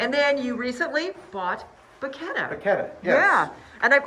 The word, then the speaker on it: Bacchetta: Right, yeah, so it is definitely- Bacchetta. The CCH sound in Italian is definitely a K.